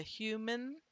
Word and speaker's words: human: But in human, do you hear the difference between manager with the jaw drop and the A sound to human? That there is no vowel sound in the second syllable. It's simply going from the m to the n. Okay, so human, the N is syllabic, but we have a vowel written there.